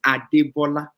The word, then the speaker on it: Adebola: But when it's Debola, it's full. It's Adebola.